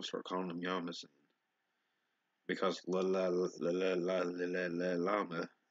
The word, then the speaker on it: llama: in here making sense it's pronounced Yama in Spanish actually like y better than llama I'm start calling them yamas because llama sounds F maybe I'm